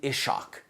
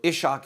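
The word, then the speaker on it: Ishaq: the translation of Muhammad's life by um iban ishak Ian ishak so if you want to invest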